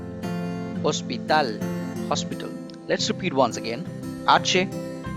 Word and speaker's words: hospital: yellow ice again starts with h but sound is silent hospital hospital let's repeat once again it's silent